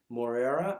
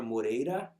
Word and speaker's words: Moreira: out my website at www dot which is spelled my last name which is moreira or moreira and it's m-o-r-e-i-r-a-dot-com yeah man you can find